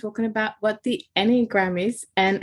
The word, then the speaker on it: Enneagram: right well let's dive in what is the anagram and I'm might not even be pronouncing it properly so like correct me um